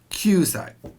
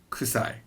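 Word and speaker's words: 九歳: it's always hassai now kyusai can never be kusai kusai means smelly jus right now you'll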